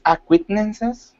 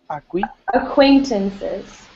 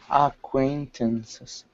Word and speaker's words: acquaintances: or the article in general and yes the pronunciation of is acquittances acquaintances acquaintances acquaintances yeah so acquaintances and these are people